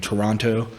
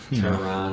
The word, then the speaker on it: Toronto: Then they have like in Toronto. Toronto. Toronto. You gotta cut it. The T. Can't pronounce that second T.